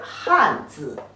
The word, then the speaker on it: 汗: When it pronounced like as he, an, han, the fourth tone means sweat.